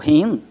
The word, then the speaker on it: hen: a forma neutra Rin h e n que indica quando é desconhecido transgênero ou quando não se quer especificar de quem você está falando o pronome hen ou hin eh a pronúncia foi proposto inicialmente nos